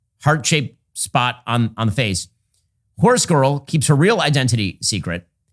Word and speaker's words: HorsegiirL: artist who calls herself HorsegiirL. Now, as with all types, as with all types of this sort of nonsense, HorsegiirL is not spelled like horse girl. It's spelled horse, Giir, large L.